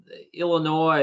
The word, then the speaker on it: Illinois: influence of the french is that why the s is silent yeah yeah um and you know of course illinois is the you know